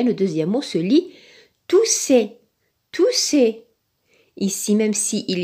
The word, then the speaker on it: tousser: On a doublé la lettre S, deux S. Donc, quand il y a deux S, il se prononce S. Donc, tousser, on le met dans la case de la lettre S.